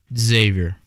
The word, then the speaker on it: Xavier: You pronounce that school how? Xavier.